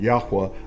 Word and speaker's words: Yahuwah: he's my daddy and his name is yahuwah that's how i pronounce it yahuwah our elohim and big